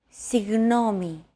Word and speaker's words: Συγγνώμη: Συγγνώμη.